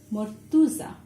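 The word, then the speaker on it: মর্তুজা: But this is actually in Bangla we pronounce it as mortuza. Like this. So we write a, but we are pronouncing it as u in Bangla.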